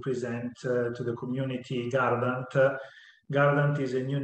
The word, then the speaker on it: Gardant: to everyone what garden means starting from the pronunciation garden to the effective meaning of this term for